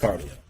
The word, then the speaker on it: Cardii.io: But it is pronounced cardio.